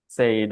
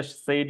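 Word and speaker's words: said: কিরকম এস আইড সেড আমরা সবাই এটা সেইড বলে আসলে চিনি এবং দেখতেও সেইডের মত লাগে বাট এটা আসলে সেইড না এটা সেড সেড এ আর কি এ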